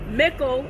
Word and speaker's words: Mickle: Now, an easy way to remember, Mickle is spelled like pickle, except with an M.